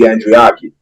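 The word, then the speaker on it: Andriacchi: of these Italian pronunciations as possible is it andrioti or andreaki well I mean different people may say it differently I mean I mean the correct pronunciation would be andreaki yeah yeah that's yeah that's what I've always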